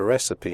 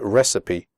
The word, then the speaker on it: recipe: have to describe a recipe in the speaking test make sure you pronounce the word recipe correctly the ending CI PE is pronounced CP recipe okay so let's get a